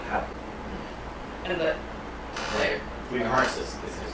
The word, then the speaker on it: Emersus: Hey, Emersus is his name. Emersus. Emersus? Okay. Say it right! You had a T in there, right? Spell no, it's not! E-M-E-R-S-U-S. Emersus. Emersus.